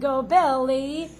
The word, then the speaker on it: Gobeli: new guest, it's Gobeli. Do we say it right? Yeah, you said it right. It's almost like the chocolate. Wait. Oh, it's like Gobeli. Right there. Gobeli. Oh, Gobeli.